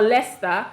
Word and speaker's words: Leicester: what is like Worchester or Leicester like like sister do you understand like